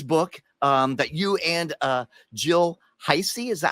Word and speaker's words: Heisey: This book that you and Jill Heisey, is that how you pronounce Jill's last name?